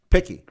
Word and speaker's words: Pikkie: How would you pronounce that? Picky. Picky. Yeah.